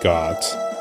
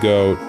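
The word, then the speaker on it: Goht: Yeah, I prefer to pronounce it Goat, it just makes more sense. I don't know why people like to call it Got. And why would a boss's name be Got? It's clearly Goat.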